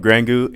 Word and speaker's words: Grangou: Super stoked to have here with me today M&I of of Grangu Incorporated. Grangu. I was always curious on how you pronounced the app.